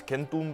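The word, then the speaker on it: chentu: say 100 they say kenu which is extremely close to the classical Latin kentum. I know what you're thinking. If it's pronounced like a k then why do they spell it with a ch that makes the ch sound.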